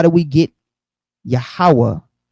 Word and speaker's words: Yahawah: the consonants leading to Yahawah often written Yahawah or Yahawah right so how do we get Yahawah which is three syllables Yahweh is two syllables so in the Greek it's two syllables Yahweh Yahoo Right.